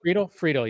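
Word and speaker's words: Friedle: Friedel, yeah.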